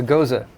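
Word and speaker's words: Gose: A goza. A goza. Is it goza? Yes. we Rhymes confirm that? rhymes with Rosa.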